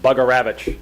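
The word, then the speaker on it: Bugarewicz: And Brian's referring to Mike, his crew chief, Mike Bugaravich is the best pronunciation of his name.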